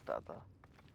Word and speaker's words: Tata: So instead, me and my siblings have always called her Tata, which is pronounced as Dada.